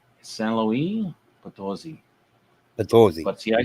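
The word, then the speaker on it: San Luis Potosí: San Luis Potosi.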